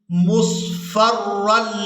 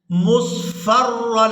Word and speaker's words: مُصْفَرًّا: کو بھی سیکھیں گے۔ وَلَئِنْ أَرْسَلْنَا رِيحًا فَرَأَوْهُ مُصْفَرًّا لَظَلُّوا، اس لفظ کے ہجے ہم نے اس طرح سے کرنے ہیں،